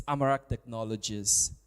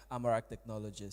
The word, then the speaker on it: Amarak Technologies: So, I would I would say you pronounced the name very wrongly. It's it's okay. It's Amarak Technologies. Um, yeah, Amarak Technologies.